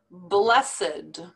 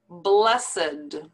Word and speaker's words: blessed: these are not verbs these are actually adjectives so the pronunciation is a little bit different from the rule that we learned with the past tense verbs so listen to how